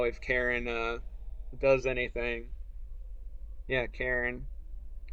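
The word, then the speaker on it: Karin: Yeah, Karen. Karn. Everybody I've seen play this calls her Karen. I'm assuming that's going to be the proper pronunciation, and it's kind of on purpose, right?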